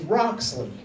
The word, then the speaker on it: Roxley: Like, my name is Roxley, not Umbutu, like some of y'all might be thinking. It's Roxley.